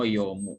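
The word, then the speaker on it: 読む: Kemudian yang kedua shimbungo yomu. Ini huruf kanji dibacanya yomu. Yo ya, membaca.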